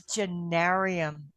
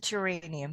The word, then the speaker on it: geranium: It was genarium. It wasn't geranium. It was genarium.